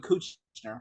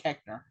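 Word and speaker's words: Koechner: he's hilarious in that I used to think his name was David coocher but it was like keker so I heard someone pronounce it I'm like really just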